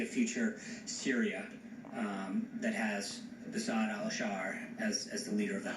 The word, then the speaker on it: Bashar al-Assad: Bashar al-Assad, I know you mispronounced his name a few times, but it's Bashar al-Assad. Bashar al-Assir was the attempt there.